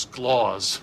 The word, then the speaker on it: Clause: For the last time, it's pronounced Sclaws.